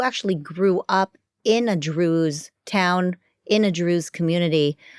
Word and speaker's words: Druze: it like to be Drews what do you believe in by the way it sounds like Jews but it's not Jews it's Drews right it Rhymes and you speak Arabic